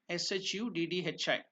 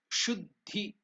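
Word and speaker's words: शुद्धि: The meaning of Shuddhi means purification. Shuddhi. Shuddhi. That is the pronunciation. So there is Sanyukta Akshar again. Ddhi. So the words two or three consonants and letters swaras are joined. So it becomes Shuddhi.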